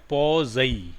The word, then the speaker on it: Poiseuille: ठीक है, इसका जो प्रोनाउंसिएशन है, ये फ्रेंच टर्म है और इसका प्रोनाउंसिएशन है पॉज़ई, पॉज़ई, पॉज़ई इक्वेशन।